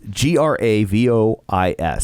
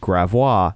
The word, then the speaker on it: Gravois: big street here and it's g-r-a-v-o-i-s so you would think gravois no we call it gravois oh boy like that's